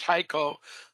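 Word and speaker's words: HEICO: It's pronounced Haiko uh but it's spelled H E I C O.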